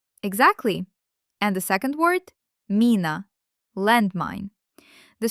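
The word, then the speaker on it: мина: It turns out to be mina. Excellent. We chewed down the pronunciation of soft pu bm m to an ideal state.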